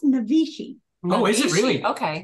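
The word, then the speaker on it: Naivasha: Navasha. It's pronounced Navishi.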